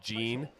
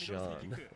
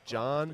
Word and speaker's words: Jean: I had to check all these pronunciations cuz I said Jean and everyone's like, "It's not Jean, it's John." Okay, so John, but with like a French accent.